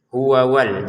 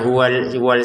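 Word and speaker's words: هُوَ وَالَّذِينَ: Perhatikan di sini ada dua wau ya. Ya. Jadi harus kita baca semuanya. Huawal. Jangan dibaca hu wal saja. Huwalladzina jangan. Hua wal. Di sini wunya ada dua ya.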